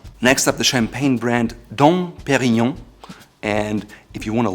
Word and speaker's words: Dom Pérignon: Next up, the champagne brand Dom Pérignon, and if you want to learn whether Dom Pérignon champagne is worth it or not, please check out this video here. Again, Dom Pérignon.